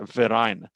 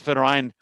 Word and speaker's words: Verein: The word for association in German is a Verein. The V is pronounced like an F. And this Verein sort of is tethered